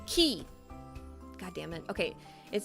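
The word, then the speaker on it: 木: Okay, this is a tree and it's pronounced key.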